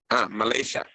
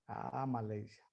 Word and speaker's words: Malaysia: ¿Cómo se pronuncia en inglés Malasia? Malaysia. Malaysia.